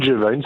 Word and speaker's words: G'Vine: J'ai bien prononcé ? C'est exact. C'est le gin Gévine, c'est le gin Nouaison.